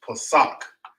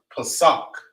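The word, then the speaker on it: פסח: You got Passover, or it would be pronounced Pesach. You know what I'm saying? It's when you pronounce it in English, it's pronounced Passover, and you translate it to Hebrew, it's pronounced Pesach.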